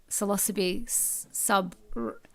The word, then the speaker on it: Psilocybe: While we're waiting, I was going to say, Lord of the Mushrooms, Caine Barlow, could you please confirm to me how to pronounce Psilocybe Okay.